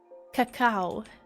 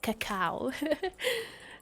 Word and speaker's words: cacao: Cocoa. Yeah. Cacao. Sorry, that's how you say it. Cacao.